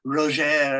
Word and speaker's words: Roger: quickly it's interesting golf you call him roer that's the French for Roger so I'm just smiling because it's the French is roer and then Americans Australians British say Roger right Roger Roger Roger